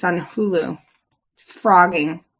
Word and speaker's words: phrogging: And you posted frogging. It's spelled P H R O G G I N.